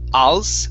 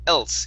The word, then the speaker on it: else: So we want to pronounce a short E sound instead of als, al. It's e, el, else. Anything else? Else? Anything else? There you go. Make sure to pronounce that L.